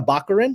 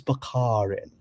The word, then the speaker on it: Baccarin: to say excuse me are you marina baccarin that's what i'm pronouncing she goes it's bakarin well i'll never get that name wrong again so it's bakarin although later i heard